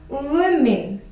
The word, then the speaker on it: women: So it's totally different from the spelling. We commonly mispronounce this word as woman or woman. So it's wrong to say like that. The correct pronunciation is women.